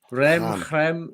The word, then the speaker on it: Reims: Stade Reims, isn't it? Stade Reims. Rem.